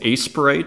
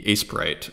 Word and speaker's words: Aseprite: to pay that though aseprite a Sprite I think is how you pronounce it uh if you remember